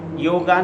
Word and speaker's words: योग: इसीलिए ये जो शब्द है योग है, योगा नहीं है। इसीलिए जो संस्कृत का जो सही उच्चारण है वो है योग।